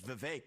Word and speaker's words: Vivek: If I say my name's Vivek, it rhymes with cake.